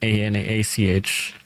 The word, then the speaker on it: Anak: say, when you select Warden BB, do you say Warden Anak or Anach? How do you say it? It's actually ANAK, but since we say Anak. ANAACH, yeah. Yeah, we'll do a CH in the end.